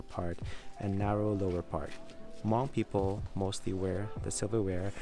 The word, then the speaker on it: Hmong: Okay guys, now we're entering the Hmong tribe. I think that's how you pronounce it. There's an H in the beginning of the word.